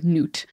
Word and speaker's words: Nut: So one day, Ra became angry at his daughter, Nut. Nut is spelled like nut, but it is it sounds like N-O-O-T.